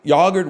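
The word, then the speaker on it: yoghurt: Yogurt with an H is really funny. That might be how it's originally spelled, but it's really funny. That's how I spell it. Sorry. Sorry, it's yogurt. Sorry, it's yogurt. I don't I don't see I don't hear an H in that.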